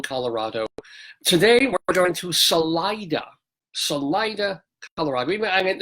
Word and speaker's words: Salida: And of course, being Americans and pissing on everything else from every other country, we say, no, not Salida, but Salida, Colorado, where, you like to find women with nice vaginas.